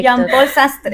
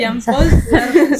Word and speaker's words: Jean-Paul Sartre: Ahí me ayudan con la pronunciación, la verdad. Fallo en ese aspecto. Google Traductor. Jean-Paul Sartre. Sí, es nuestro dialecto. Jean-Paul Sastre. Jean-Paul Sartre.